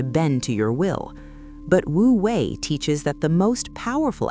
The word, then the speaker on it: Wu Wei: It is called Wu Wei, pronounced Wu Wei, which translates to the art of effortless action or action without forcing.